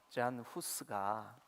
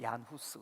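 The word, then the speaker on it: Jan Hus: 그 프라하 공원이 잔 후스가 이제 체코 발음으로 얀 후스 그러죠.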